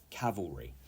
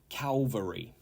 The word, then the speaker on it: cavalry: that says correct there 25 is Cavalry Cavalry not Calvary okay Cavalry and this means